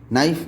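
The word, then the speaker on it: knife: जैसे कि हमने वर्ड पढ़ा है के एन आई एफ ई, नाइफ। नाइफ में के साइलेंट हो जाता है।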